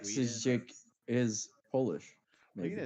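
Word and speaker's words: Oleksiejczuk: That might be Poland or white I think with a red Mikhail cross might be like Oleksijczyk is Polish.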